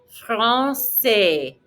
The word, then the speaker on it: français: Le français. R in the back of your throat. Accent cédé. Don't pronounce the S. Répétez. Le français.